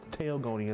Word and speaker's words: Tailon: Tailon is the right way to pronounce it.